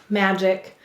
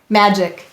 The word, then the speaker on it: magic: second syllable's ick now what sound of do you hear in magic the second